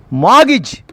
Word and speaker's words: mortgage: T is a silent letter. Mortgage.